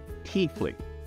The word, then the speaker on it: Tiefling: in a busy street or in a bizarre teethley that's how it's normally pronounced now some Regional accents of the rooms